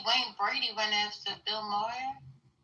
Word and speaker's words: Maher: thing, I see Wayne Brady went after Bill Moyer. How do you say his name? Moyer. Moyer. He's a racist. Bill Maher. Okay. But comic Wayne Brady unloads on Bill Mer.